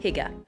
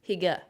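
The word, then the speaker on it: hygge: so let me explain the Danish concept of Higa not hii Higa I with my heavy Canadian accent I'm sorry so I said it wrong hga Huga everyone from Denmark is like KY I tried at least at least that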